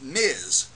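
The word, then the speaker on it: Ms.: Miz Marvel now that's Miz pronounced with a z spelled Ms period get it right this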